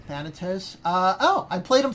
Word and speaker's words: Thanatos: So I think some people pronounce it Xanatos. I'm just pronouncing it Thanatos.